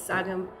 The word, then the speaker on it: Saghim: of wanted to say my entire name. So it's Saghim. And he kind of butchered the middle name.